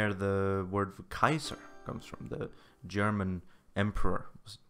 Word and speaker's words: Caesar: Kaiser so after Caesar Caesar was originally pronounced Kaiser okay sir yeah which is why it's similar to Kaiser German Tsar in Russia